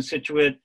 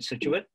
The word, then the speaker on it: Scituate: and at this time english authors and poets uh generally put a silent c after essence and so